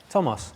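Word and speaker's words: Tomos: Unfortunate for him, Gareth Davies, he's injured and he's going to be out for the next couple of rounds, but Tomas Williams, brilliant form.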